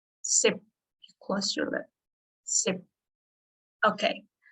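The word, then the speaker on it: สิบ: But 10 we have the ending sound like p, right? But we don't pronounce p. Sip. Sip.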